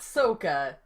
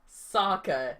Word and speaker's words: Sokka: And yeah, I feel bad for the guy who played Sokka, not Sokka, Sokka. I feel bad because you can tell in his acting that he's trying to make Sokka funny, but you can